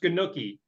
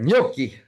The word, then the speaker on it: gnocchi: Yeah, and it's also not pronounced Ganuki. Ganuki. I love Ganuki with little sauce on it, right? I thought it was ganache. I always thought it was ganache. All right, gnocchi.